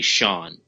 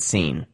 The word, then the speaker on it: Sean: people in real life that pronounce it Scene. What? And they get, overly upset if you say Sean. Wait, they spell it Sean and they pronounce it Scene.